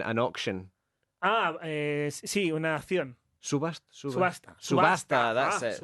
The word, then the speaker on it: subasta: Subasta. That's it. Subasta.